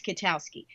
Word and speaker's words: Kwiatkowski: was in the Pentagon yo my name is Kotowski that's um K plus ten other letters that nobody wants to pronounce and so my nickname in the Pentagon